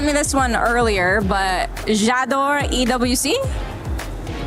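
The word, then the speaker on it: J'adore: Jador EWC.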